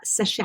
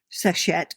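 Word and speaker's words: Seshat: Uh Sashett. Could you spell that for us?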